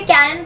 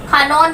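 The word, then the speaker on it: キヤノン: हम इसको हमेशा से कैनन प्रोनाउंस करते हैं, बट जापानीज में इसको खानोन बोलते हैं।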